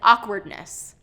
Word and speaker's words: awkwardness: Another one is awkwardness. Awkwardness. Not awkwardness, but awkwardness. So instead of second syllable stress, we want first syllable stress.